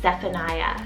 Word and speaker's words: Zephaniah: cool biblical name love it is the name zephaniah spelt z e p h a n i